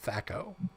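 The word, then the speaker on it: THAC0: his name is t-h-a is spelled t-h-a-c-o thako oh boy they sure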